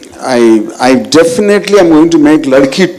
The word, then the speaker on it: Ladki: So in my, it's not like Ladki, it's Ladki. That is how I pronounce it in my mind, and that might not come in the, just you see the logo.